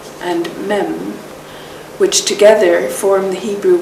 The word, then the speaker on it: Mem: The two Hebrew letters SH and M, pronounced Shin and Mem, which together form the Hebrew word Shem, represent